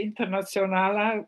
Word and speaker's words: Internationale: the founding members, that each of us would pronounce the name in our local way. So I say Internationale, which is more like Slovene way.